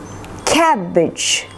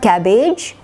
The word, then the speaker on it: cabbage: Cabbage. Not age, not cabbage, but cabbage. Edge sound.